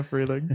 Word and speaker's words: Freehling: The H is silent. We can come up with something that it stands for. Uh, how about heck yeah. Heck yeah. Heck yeah. Freeling.